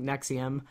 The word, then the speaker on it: NXIVM: Okay, so I totally need to learn about this cult because, of course, when I think Nexium, I think an acid reflux pill.